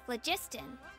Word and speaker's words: phlogiston: Good things happen if you infuse it with phlogiston. Phlogiston or phlogiston. Okay, so soft G. Phlogiston.